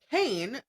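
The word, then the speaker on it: Caen: They ride from Normandy bringing with them stone and cane from France. And I'm not talking about cane like the sugar. It's spelled C A E N.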